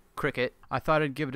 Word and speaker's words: Cricut: die-cutting the machine so I had always thought this was pronounced cry cut which rhymes with die cut but apparently it is actually Cricut I thought I'd give